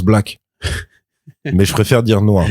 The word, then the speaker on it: Black: Non, ça se prononce Black.